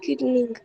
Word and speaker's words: knitting: The two main processes are weaving and knitting. Knitting, beta. It's called knitting. K is silent.